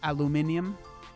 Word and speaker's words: aluminium: uh pronunciation of aluminum well i mean i say it like an american right if you live in um if you live in the uk it's aluminium aluminium i learned that from